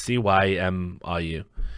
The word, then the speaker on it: Cymru: is literally applied Comrie as exactly how you pronounce cymru company or come reg if you're talking about